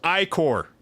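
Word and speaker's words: ichor: spills unto the land it's pronounced iicor forming the boiling river that flows through the legacies of heroes who take their stand you are Are you done?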